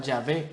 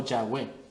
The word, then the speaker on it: Yahweh: La diferencia en la pronunciación tiene que ver con la fonética de la letra Vav, que en hebreo suena como una V, pero para los angloparlantes suena como una W, por eso mucha gente